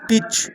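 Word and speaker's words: pitch: যেমন এখানে কয়েকটি শব্দ দেখো: সিএটিসিএইচ ক্যাচ, এমএটিসিএইচ ম্যাচ, পিআইটিসিএইচ পিচ, ডিআইটিসিএইচ ডিচ, অর্থাৎ টি এর পরে প্রত্যেকটা শব্দে কিন্তু সিএইচ আছে। তো এই কারণে কিন্তু টি এর পরে সিএইচ থাকলে টি এর উচ্চারণ হয় না।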